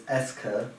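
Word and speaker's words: est-ce que: make sense to me because it's spelled e-s-t-dash c-e-q-u-e and that somehow is eska it's not apostrophe e-s-t-c-e-q-u-e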